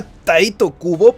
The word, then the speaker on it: Tite Kubo: ¿Crees que una sola persona en el mundo le compró a Tite Kubo, porque sí, así se pronuncia, que Ichigo perdió la vida en esta